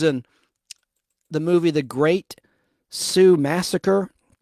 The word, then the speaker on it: Sioux: She was in the movie The Great Sioux Massacre. That's spelled Sioux, like Sioux City.